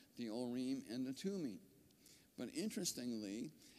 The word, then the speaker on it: Urim: So you, as best as I can tell, where it says 224 Urim, O-O hyphen R-E-E-M, looks like Urim to me.